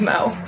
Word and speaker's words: Mo: look like an Amanda it rhymes with go wo my name's Mo oh hey look there's